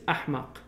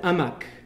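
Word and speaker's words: أحمق: voices of stupidity out the malays can't pronounce the h in arabic so they say for the stupid in malay is in arabic it's ahmak the malay said amak so running amok is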